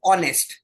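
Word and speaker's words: honest: all about the pronunciation the pronunciation of एच ओ एन ई एस टी इज ऑनेस्ट नॉट नेस्ट ह नहीं बोलेंगे ओ बोलेंगे ऑनेस्ट आई एम एन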